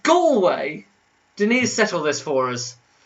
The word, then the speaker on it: Galway: hey go away school way go away it's pronounced galway denise settle this for us all right click